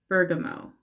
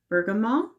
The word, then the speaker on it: Bergamot: and sparkling Bergamo Bergamot I've been told I was pronouncing it wrong and uh because I was pronouncing it with the T at the end and apparently you're not supposed to do that so I believe it's Bergamo regardless that's a citrus